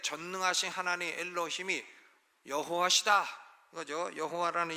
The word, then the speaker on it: 여호와: 여호와라는 이름은 정확한 발음을 잘 알 수 없는 하나님의 이름입니다. 그래서 어떤 사람은 야훼라고 부르고 어떤 사람은 여호와라고 부르고 영어로는 제호바라고 부르고 하는데, 대부분 히브리 학자들은 야훼가 아마도 정확한 발음일 것이다, 이렇게 생각을 합니다.